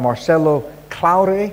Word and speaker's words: Marcelo Claure: And last but not least, to our far right, we've got Marcelo Claure, am I pronouncing it right?